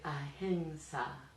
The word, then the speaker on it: ahimsa: This is the word ahimsa, or as it's sometimes pronounced, ahimsa, more commonly in fact.